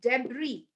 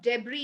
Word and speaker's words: debris: there's a lot of debris there's lot of debris in one place it's not debris it's debris so can you see